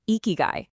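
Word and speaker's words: 生き甲斐: First off, it's pronounced ikigai, and the true definition is astonishingly simple.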